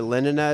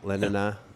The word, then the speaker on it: Lenina: Well, yeah, Lenin is how they said it in the audiobook. But that was just wrong. And I mean, everything I they was say. pronouncing it like it was Lenin. Yeah, Lenina, Because that's how it's spelled.